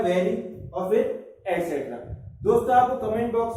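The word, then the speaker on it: et cetera: बहुत से लोग इसको गलत बोलते हैं, इसको एक्सेट्रा बोलते हैं, तो वो EX स्पेलिंग लगा जाते हैं।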